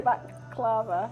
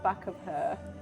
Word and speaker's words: baklava: No, you just said the baklava. How do you say it? Baklava. Baklava. Not back of her.